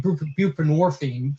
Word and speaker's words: buprenorphine: We say, we're going to give you buprenorphine, Suboxone, which rhymes with morphine, and it's basically a narcotic, or methadone, which is a narcotic, and we're going to give you those things.